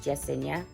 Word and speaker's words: Yesenia: And two of my babies have Y names as well, so my Juliana would be pronounced Juliana, and then my Yesenia would be pronounced Jesenia.